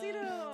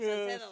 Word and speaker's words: Salcedo: Salcido. Salcido's As here. one, Yeah. Yeah. My dad's And your dad would correct him, Salcedo. Salcedo.